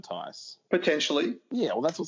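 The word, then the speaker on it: Theis: like, I don't know if he's not a better player than Daniel Thies. Thies? I keep saying it wrong. He's got a higher ceiling than Tice.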